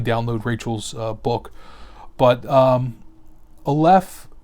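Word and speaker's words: aleph: rachel's book but um olef as rachel was explaining is a hebrew letter that has no pronunciation it's like a silent letter it only fits in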